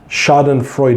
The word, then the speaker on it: schadenfreude: how to pronounce this Google said the pronouncement is schadenfreude er schadenfreude 8 so it's a German term I think you Aziz